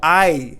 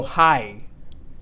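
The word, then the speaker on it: hay: means no problem no I and we're not going to say no hi their age is silent no I no I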